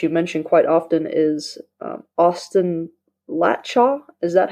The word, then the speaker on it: Austin Latchaw: your book that you mention quite often is Austin Latchaw.